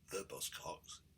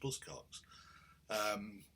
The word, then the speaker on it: Buzzcocks: I'd realised had been getting the name wrong for 40 years. I talk of Buzzcocks. I wasn't the only one, by any means, to always insist on calling them the Buzzcocks, but it's just Buzzcocks.